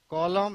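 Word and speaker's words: column: एच वाई एम एन, अगर हम एम और एन पाते हैं एक साथ तो आपका यहां पर एम के साथ अगर एन बैठा होगा तो एन साइलेंट रहेगा। कॉलम हिम, हिम का मतलब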